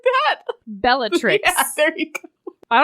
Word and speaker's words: Bellatrix: a Narcissa Nar is it Narcissa she's a batrix how are you pronouncing that Bellatrix yeah there you go I don't know man